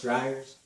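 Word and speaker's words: Dreyer's: chocolate chip ice creeeeam grayer's dryers I think I think it's pronounced dryers so those so it's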